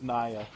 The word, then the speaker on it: Nier: pronunciation, it's Naya.